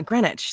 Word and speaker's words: Greenwich: it's scrivener what's a scrivener let's find out Greenwich yeah Greenwich thank you Alex Mack Okay so um scrivener